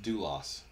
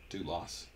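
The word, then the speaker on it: δοῦλος: The word that they use here is doulos. That's the Greek word, doulos. D-O-U-L-O-S. I'm sure that's not how it's spelled in Greek, but that's how it's spelled in English.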